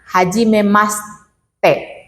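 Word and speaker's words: はじめまして: susah untuk menyesuaikan ya jadi contoh kata Haji memaste tulisannya kan Haji memasite tapi dalam penyebutannya Haji memast te Jadi kayak tenggelam di atas langit-langit mulut ya nah eh itu adalah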